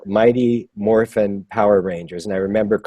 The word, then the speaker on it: Morphin: They just said it's called Mighty Morphin Power Rangers. And I remember going, morphine? How do you say morphin? Morphin.